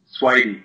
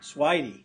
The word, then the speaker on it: Swidey: Did I pronounce that right? Swidey. Swidey.